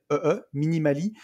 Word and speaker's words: Minimalee: un podcast qui s'appelle Minimali, qui m'a interviewé pour son podcast sur le minimalisme, qui est vraiment très très intéressant. Ok. Si vous voulez y aller, ça s'écrit Minimalee, Minimali.